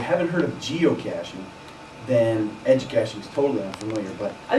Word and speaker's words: Educaching: Educaching? Yep, Educaching. It's got the word cache in it, C-A-C-H-E. That's always good. Yep, and that means something that's hidden. And if you haven't heard of geocaching, then Educaching is totally unfamiliar, but I think most of